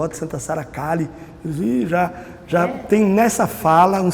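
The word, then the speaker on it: Kali: Pelo menos eles todos, os ciganos que eu conheço, falam Cali. Santa Sara Cali. Eu nunca vi um cigano Pronunciar diferente.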